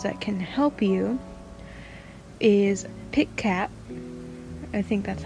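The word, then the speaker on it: Pikat: As I said earlier that I was going to do for YouTubers that can help you is Pit Cat. I think that's how you pronounce them.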